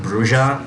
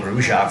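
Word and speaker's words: Brujah: Yeah, Skelter's eyes were changed as well, I guess to make it more obvious that he is Gangrel, not Bruja, as we used to think.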